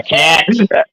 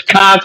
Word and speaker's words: Cox: Yeah, Cax. Hey, It's Cox, but you sound like you're from Boston. I Cax.